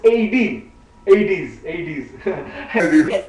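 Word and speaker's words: aides: How you pronounce aids in America? Same because in India they pronounce ades here they pronounce aids.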